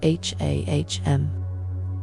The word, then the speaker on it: HAM: The Sanskrit seed sound associated with this chakra is ham pronounced h a hm.